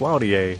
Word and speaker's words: Launier: blessed to have, and I'm going to go with the American pronunciation, JF Launier from JF Customs.